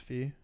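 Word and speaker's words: Pfhor: Or was it just fear? Just fear. Silent T.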